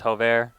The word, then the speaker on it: Jover: Her name is Jover. She is from Spain, so definitely pronounce the J's differently over there. Jover, I apologize. That is how I pronounce your name, not Jover.